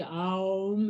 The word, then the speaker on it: Om: That's what Om actually symbolizes. It's a simple three syllables, actually. Aum is a traditional way to talk about it. It's the traditional way to say it, actually.